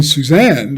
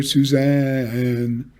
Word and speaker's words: Suzanne: suzanne the stressed syllable is on the second syllable and we need to line that up with the beat and not line up the first syllable which is unstressed so we move the first syllable back shorten it and make and then make two notes out of the single syllable single stress syllable zan uh so we get